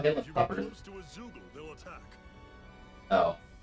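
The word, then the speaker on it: Zeugle: close to a Zoogle, they'll attack. Oh, it's pronounced Zoogle.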